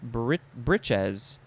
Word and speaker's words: breeches: 1 is plural, and it has a different pronunciation. Breeches.